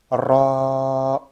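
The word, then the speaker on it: راء: Donc c'est pas le ra que tu vas venir prolonger, hein. C'est juste comment dire, la voyelle. Donc toi tu fais ton ra au début et après c'est le a qui se prolonge.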